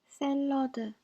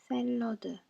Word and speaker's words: 샐러드: 샐러드, 샐러드. Both A sounds are pronounced differently than just A. So the first one is E, and the second one is reduced, so we do write with the A sound in this case.